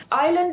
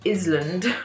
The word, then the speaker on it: island: Island is spelt with an S after the I, so this would sound really strange if we pronounced it. It would be Island. And that doesn't really sound very good, so we don't pronounce the S, we just say Island.